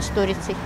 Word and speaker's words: сторицей: Я знаю, что правильно сторицей.